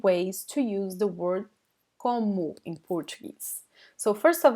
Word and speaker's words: como: Como, como. Repeat. Como, como. So we have this nasal sound in this first vowel, and the last O is pronounced like a weak U.